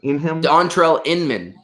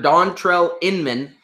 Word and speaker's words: Dontrelle Inman: throw there too I don't know how you pronounce this I think Dontrelle Inman yes former charger Dontrelle Inman finding a role on the Colts as like